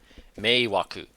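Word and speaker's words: 迷惑: Oh, how's this pronounced? Meiwaku.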